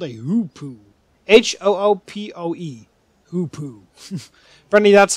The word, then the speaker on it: hoopoe: Hoopoe. Apparently, that's how you pronounce the name of that bird.